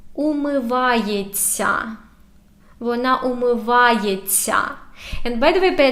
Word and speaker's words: умивається: Вона умивається. And by the way, pay attention to pronunciation. When we have this ся, we say it like long, soft т.